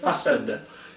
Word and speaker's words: Fassbender: Is that how you pronounce it? Fassbender? Yeah, Fassbender.